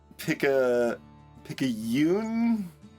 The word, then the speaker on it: picayune: Pick a Yoon. It's 2 syllables, not 3 syllables, because it's Spanish, not Japanese.